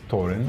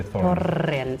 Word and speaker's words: Thorin: If you're if you're Norwegian, I think it's Thorin. Okay. But as it rolls, you can say Thorin.